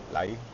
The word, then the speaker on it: Leia: Am I saying it right, Leia? Lai? Lai. Lai.